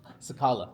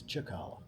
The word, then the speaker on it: Cicala: If you want to be cool and kind of pronounce it like Italian, it's Chakala.